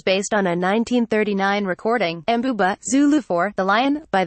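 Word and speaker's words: Mbube: Pete Seeger recorded a version in the 1950s as Weem Away, which is how he sang the original lyric, Mbuba, pronounced Mbuba.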